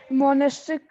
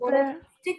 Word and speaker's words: monotheistic: Monastic movement, another aspect. Monotheistic movements. Good morning, ma'am. Good morning, Bob. Another aspect of Wait, Bhakti Krishna, movement first was pronounce it properly. Monotheistic movements. mono.